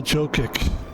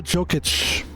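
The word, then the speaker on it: Jokić: His name is Nola Joic. Actually, it's pronounced Joic. Joic. Yes, Nola Jookic.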